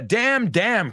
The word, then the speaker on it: damn: Laura, maldito tiene una N al final, pero no se pronuncia. So, damn the damn, que le den al maldito presa ya.